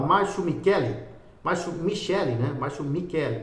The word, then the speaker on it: Michele: Márcio Michele, pronuncia-se assim Michele, então Michele com I. No final e você vai